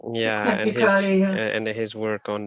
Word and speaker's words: Csikszentmihalyi: And also there's the book by I think his family name is a bit difficult to pronounce, Mihai Csikszentmihalyi. yeah, Csikszentmihalyi, yeah.